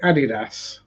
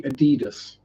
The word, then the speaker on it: Adidas: large can I say Adidas yes or if you pronounce it correctly it' be Adidas or Adidas because it's named after the first two letters of the two German brothers who formed the company and yes I am